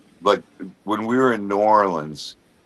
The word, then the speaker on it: New Orleans: But when we were in New Orleans, Norins, thank you for saying it.